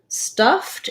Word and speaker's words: stuffed: sound at the end stuffed is an example where because stuff ends with a voiceless sound the ed is gonna say t in this word stuffed so i would rewrite it like stuffed um stuffed sorry that wasn't